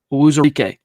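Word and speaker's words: Uwazurike: Owuzarike?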